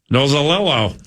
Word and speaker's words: Nozzolillo: a guy named Dave Nozzolillo. You know how to say that last name? I think that's how you say it. Nozzolillo? Yep. Nozzolillo, who, by the way, most